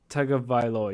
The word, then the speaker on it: Tagovailoa: have medically suspended Tua Tagavailoa. Or Tagovailoa. Do you know what I mean? Like, I think it's Tagovailoa is how you pronounce it, but I could be wrong. Tagovailoa, you're right.